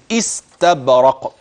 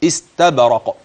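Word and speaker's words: إستبرق: استبرق وهمز كلمه استبرق همز قطع ما معنى همز قطع اي انك ستقطع الحرف الذي قبلها عن الحرف الذي بعدها س بين النون ثم اتي بالهمز الذي قطع النون عن السين بعد ذلك فانطق من استبرق اذا هكذا يكون نطق لهذه النون واضحه جليه والشرط الحرف الذي بعد النون انظر اليه جيدا انه الهمز استب والباء تقلقل والقاف عند الوقف تقلقل استبرق وجنا عند الوقف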